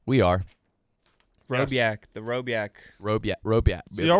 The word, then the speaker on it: Rhoback: Get ready for the spring with Roback. We are. Robiak.